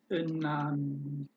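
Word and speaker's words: እናንተ: Inanta. Inanta. Which means, how do you pronounce this? As Inanta. Inanta.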